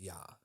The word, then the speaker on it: Ea: is the same as e E A which is pronounced yah in another Samarian story